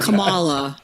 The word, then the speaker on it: Kamala: different ways um so I remember her putting the emphasis on the second syllable so it was like Kamala was how sheon much